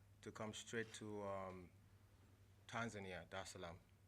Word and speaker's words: Dar es Salaam: come straight to Tanzania, Dar es Salaam. Did I pronounce that right? Yeah, Dar es Salaam.